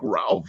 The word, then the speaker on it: Ralph: The weird one is it's a simple Raphael or Ralph, and I constantly get my name missaid, and I'm like, dude, it's like Ralph. It's like the most common name out there.